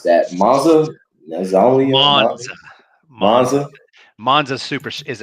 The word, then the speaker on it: Monza: I can't pronounce that. Monza.